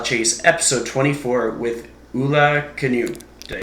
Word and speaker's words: Kaniuch: Welcome to the Lifestyle Chase, episode 24 with Ula Kaniuch. Did I say it right? Kaniuch, yeah.